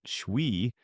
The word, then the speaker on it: Twi: Twi, pronounced Shwi, is the language of the Ashanti and is widely spoken across the southern and central regions of Ghana.